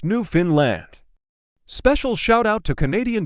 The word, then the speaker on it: Newfoundland: Newfoundland is pronounced Newfoundland.